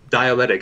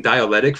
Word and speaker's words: dialectic: of pronouncing dialectic as dialectic i've been saying dialectic for years instead of dialectic so i could see in the wrong place in in the words so if i say